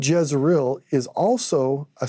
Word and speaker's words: Jezreel: So we use the letter J in English, but in the Hebrew, it'd be Yezreel, which sounds like Yisrael, which is how you say Israel.